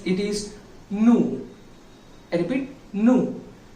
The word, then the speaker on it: nous: So we, it is pronounced, it is nous. I repeat, nous. It spells N-O-U-S, but we need to pronounce it as nous.